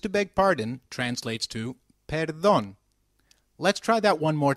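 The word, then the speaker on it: perdón: me when used to beg pardon translates to Peron let's try that one more time Peron very good however for seeking someone's attention excuse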